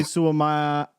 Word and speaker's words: Suamataia: Kingsley Suamataia.